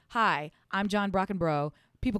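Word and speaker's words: Brockenbrough: him for so long his name is actually pronounced Brock and bro so it's and his his sister is um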